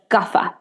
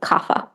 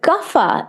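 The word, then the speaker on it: Kapha: body and then finally the third DOA is gaffa people pronounce it kafa but gaffa is Earth Energy earth and water so very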